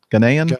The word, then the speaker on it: Ghanaian: Ghanaian pilot? Is that how you pronounce that? Ghanaian pilot Yes.